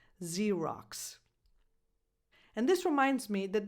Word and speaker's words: Xerox: a regular English verb, you have 2 X's, but they are pronounced in 2 different ways. Xerox.